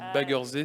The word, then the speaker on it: Baggersee: Par contre, Baggersee, non, c'est Baggersee, c'est à l'allemand, le lac en allemand.